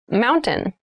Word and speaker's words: mountain: you pronounce this word in fast speech it sounds like mountain the t sound is reduced the little town was